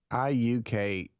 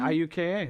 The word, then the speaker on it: Iuka: IUKA. Oh, yeah, IUKA. There you go. Mm-hmm. Right. Yeah. There you go. Most people go Iuka, but did- that yeah, would but be it's incorrect. Iuka.